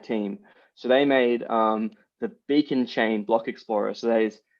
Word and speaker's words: beaconcha.in: So they made the Beacon Chain block explorer. So it's Beacon Chain. The URL is Beacon Chain, but there's a dot just before the IN at the end.